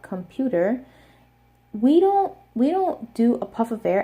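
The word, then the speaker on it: 컴퓨터: Something to note in Korean is that their aspirated consonants are a lot stronger than English. So even though we also use a K sound, a P sound,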